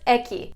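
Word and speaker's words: Ekhi: eki it's got an h in there to mess you up a little bit but it's silent so it's just eki and eki comes from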